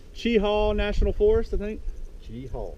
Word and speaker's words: Cheaha: Chi-haw. Chi-haw. Chi-haw. That's how you say it. Last time I said Chia on my last video and I got a little I got a review not to say that.